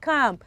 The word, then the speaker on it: calm: one we have c-a-l-m c-a-l-m i'm sure you pronounce that as cam calm down mommy calm down my friend come